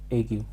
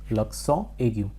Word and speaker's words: l'accent aigu: This particular heading is pronounced as l'accent aigu. In English we say aigu, l'accent aigu.